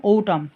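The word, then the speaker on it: autumn: সবসময় ভুল উচ্চারণ করি ওটাম এটা কিন্তু সঠিক উচ্চারণ ওটাম যার অর্থ হচ্ছে শরৎ পরবর্তী সঠিক উচ্চারণ যেটা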